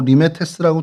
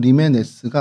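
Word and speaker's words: Limenes: 그래서 요거 한글로는 뭐 리메테스라고 돼 있는데 실제로 발음은 리메스가 맞습니다.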